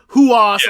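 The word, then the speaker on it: Rojas: So I don't know if it's because it's spelled Rujas, but it's Huas or whatever. And I'm just like, the Brazilian pronunciation.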